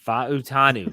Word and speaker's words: Fautanu: the pronunciation there's four syllables Pacific island you pronounce V yes fanu nonetheless the Washington offensive lineman who Mike Tomlin